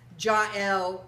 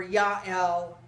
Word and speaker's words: Jael: going to talk about jel or yahel or ja depending upon which pronunciation you like of whom probably most